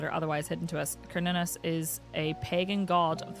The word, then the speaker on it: Cernunnos: Pronunciation. Carnunus.